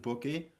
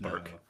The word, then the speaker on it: Burke: Um, was it Bookie? Do you pronounce the E in this case or not? No, it's just Burke.